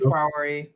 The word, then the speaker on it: Traoré: And I'm pronouncing it Traoré because let me put his name in the chat just so people can know who I'm talking about.